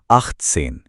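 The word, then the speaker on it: achtzehn: इसके बाद है आखसेन। इसका सही उच्चारण है आखसेन।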